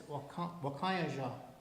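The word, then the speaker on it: wakȟáŋyeža: It's Wakayaja.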